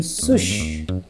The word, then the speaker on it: Sush: Today, we have someone whose name rhymes with push. Let me introduce you to Sush.